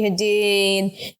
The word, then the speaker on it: Hadid: like unfollowed like Bella Hadid and like Gigi Hadid and did I just butcher their last name but anyway you said it